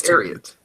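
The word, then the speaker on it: Thieriot: So we know Freddie Highmore, and I've looked it up, so we finally got a pronunciation to do correct this season. Terriot. Max Terriot. Max Terriot.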